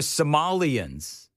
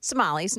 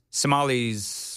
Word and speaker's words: Somali: about what the Somalians the Somali. It's Somali, right? Somali. I I keep People have been saying Somalians and Somali and what I don't whatever. Somali rhymes with tumales.